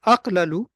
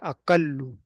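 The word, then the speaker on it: أقل: So we don't say aqlalu, we say aqallu. You just you just put a basically a shadda with a dhamma on it, aqallu, which was actually aqlalu. Aqlalu is difficult to pronounce, so they just make a idgham of it. They say aqallu.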